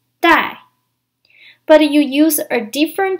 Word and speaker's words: 带: verb is also pronounced die but you use a different trance character when you write it it means to take or to bring it is pronounced in the fourth tone die in Chinese you use